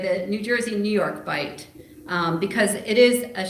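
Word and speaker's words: bight: about 488,000 Acres they call it the New York bite area b i g HT which the word bite means an indentation in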